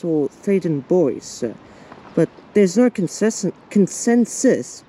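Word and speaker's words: Theydon Bois: men's bathroom so most people actually tend to mispronounce the station as like th and Bo which is see French first by removing the S but it's actually thaden boys or thaden boys but there's no consens consensus look that's a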